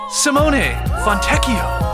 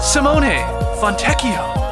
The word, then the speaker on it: Simone Fontecchio: Italy every year so we have you to pronounce Simone fontecchio Simone fontecchio Simone fontecchio it looks like lb from the